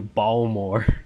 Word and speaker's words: Baltimore: Baltimore oh my God that's how Baltimore people pronounce it to balore balore yeah bore it's bore I